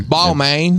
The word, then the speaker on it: Balmain: Balmain balmains that how you say it yeah ball main yeah we'll go play ball man see some